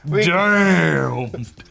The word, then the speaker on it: Damned: Well, doesn't matter, because in the first issue of a new Batman limited comic series titled Batman Damn. That's exactly how it's pronounced now. Damn.